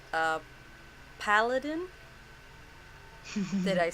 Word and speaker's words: paladin: But her class looks like a paladin.